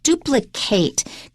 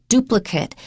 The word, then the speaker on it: duplicate: in creating and note that the verb is pronounced duplicate could you duplicate your success elsewhere but the noun is duplicate this is an exact duplicate of this dolly